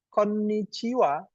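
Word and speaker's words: こんにちは: Koniciwa. Koniciwa artinya selamat siang. Eh, ya benar. Selamat siang. Nulisnya tidak koniwa pakai WA ini, tapi koniaha.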